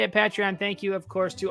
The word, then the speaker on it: Patreon: are on patreon that's how you say it patreon thank you of course to all of our